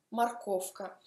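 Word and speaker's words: морковка: Morkovka. Morkov c'è mekki znak alla fine. Quando aggiungo il suffisso, mekki znak scompare. Morkovka. Si scrive morkovka, si pronuncia Morkovka.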